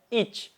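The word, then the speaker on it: iç: Nah, kalau semisalkan kalian menemukan huruf C ini di akhir kata, maka bacanya harus ada desisannya nih sedikit. Contohnya ich.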